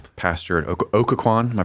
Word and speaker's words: Occoquan: Pastor Okaquan. Am I pronouncing that? Aquan.